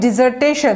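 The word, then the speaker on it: dissertation: ডিজার্টেশন, DISSER, desire উচ্চারণটা হবে ডিজার্টেশন।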